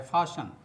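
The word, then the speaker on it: fasten: तो दोस्तों, यहाँ चूँकि टी साइलेंट है तो यहाँ EN को अन पढ़ा जाता है।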